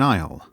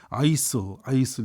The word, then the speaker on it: aisle: The shelves are set apart by an aisle. 여러분 이것 참 묘사라는 게 그래요. 통로라는 단어가 특히 중요한데요. 이 단어를 발음 못하는 초급 학생도 많아요. 막 아이슬 이러는데 aisle 이 단어 잘 하셔야 되고요.